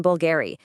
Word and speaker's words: Bulgari: Just remember, silent H in Hermes, that tricky nasal on in Vuitton, the hard G in Gucci, and of course, that surprising U sound in Bulgari.